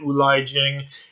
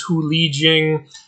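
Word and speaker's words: 狐狸精: of my last video I was pronouncing Hu Li Jing wrong. I was calling it Ulai Jing. Apparently it's Hu Li Jing.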